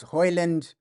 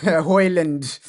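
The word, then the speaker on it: Højlund: I think I think it's pronounced Hoyland. I heard him saying it on Instagram. He pronounced his name. He's pronounced Hoyland. I think that's how you pronounce it. I think that's how you pronounce Hoyland.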